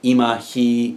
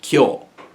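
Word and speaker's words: 今日: kill that's that's it kyoool and why i don't i don't know i don't know but it doesn't follow any of the rules that we've had so far um here's another one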